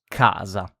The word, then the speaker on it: casa: So we have the vowel A is pronounced in Italian. A is pronounced A. Example of it. Esempio. Casa.